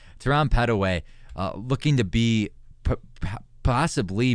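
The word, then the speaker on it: Petteway: couple pushes Teran P Teran pedway am I pronouncing that right uh pedway pedway okay so a little quicker pronunciation there Teran pedway uh looking to be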